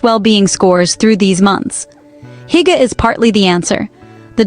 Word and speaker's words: hygge: The Danish concept underlying this well-being is hygge, pronounced roughly hygge, a word with no direct English translation that